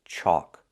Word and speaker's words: chalk: And the third word is chalk. The sound is in the back, like walk and talk, chalk.